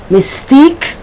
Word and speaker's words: mystique: quaint then you have the q u when the sound is just like the k such as yankee peak quechua mystique opaque okay so this is